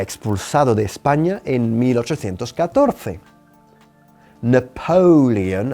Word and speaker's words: Napoleon: Napoleon, así decimos Napoleón, Napoleon, enfatizando la segunda sílaba, Napoleon was driven out of Spain in 1814.